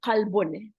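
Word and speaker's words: قلب: The word qalbun, qalbun is the heart. Qalbun. So the pronunciation is very important.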